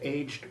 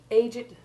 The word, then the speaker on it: aged: And the past participle aged, used as an adjective, similarly retains the sounded E, the silent E being reserved for the verbal forms, as in, that aged man had aged rapidly.